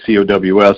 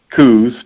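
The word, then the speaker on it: Coues: uncle elliot on down the families always pronounced her last name as cows just like a bovine so i would much rather pronounce it coos because i i think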